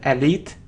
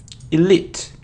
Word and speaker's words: elite: an L it and it isn't elite its ear elite elite and the stress is on the second syllable it's also very important